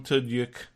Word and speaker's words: Tudyk: At the end, Alan Tudyk, yes, that's how you pronounce his name, was saying, coming back, the highest rated new drama of the year.